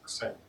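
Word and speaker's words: ξ: So instead of variable r, we will be using this Greek letter that we can pronounce as xi.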